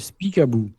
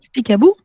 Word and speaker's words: Speak About: Alors, cette application s'appelle Speak About. Bon, Speak About. Speakabou. About. Je pense ça se prononce comme ça, speakable.